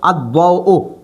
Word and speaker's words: الضوء: زه معرفه جوړوم په شروع کې الف لام لګاو دا ضاد حرف شمسی دی نو اوس په دا مونږ سره په تلفظ کې دا لام نه ویل کېږي نو دا مونږ به وایو الضوء معنا دا رڼا چمک.